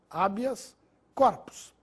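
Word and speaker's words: habeas corpus: e gratuito sem acento abias corpos como se trata de uma palavra Latina ela não recebe acento gráfico mas a pronúncia é Abas Corpus habitat assim como habas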